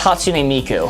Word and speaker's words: Hatsune Miku: Oh, it's pronounced Hatsune Miku.